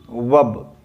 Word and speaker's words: verb: लेकिन बच्चों अब जब आप हाई स्टैंडर्ड में आए हो तो आप ये चीज जान लो कि वर्ब में ना आर साइलेंट है। वर्ब में आर साइलेंट है। क्या होता है बच्चों प्रोनाउंसिएशन? वब। क्या बोलते हैं? वब। वब।